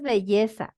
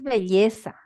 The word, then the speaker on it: belleza: No, pronuncia bien, no, no es con la Y, no es así, no es belleza, es belleza.